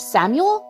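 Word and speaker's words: Samael: mated with an archangel named Samuel, I believe is how you pronounce it.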